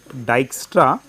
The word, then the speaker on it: Dijkstra: algorithm is due to dyra uh J is pronounced y so it will becomes d i y k dyu okay and what